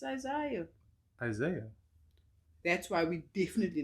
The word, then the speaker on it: Isaiah: What about Isaiah?